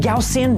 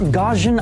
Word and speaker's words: Gaussian: And yes, it's pronounced Gaussian, not Gaugen.